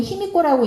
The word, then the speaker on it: 히미코: 그리고 비미호도 일본어로는 히미코라고 읽는데, 일본어에서 이 히는 요 하늘에 떠 있는 해를 히라고 해요.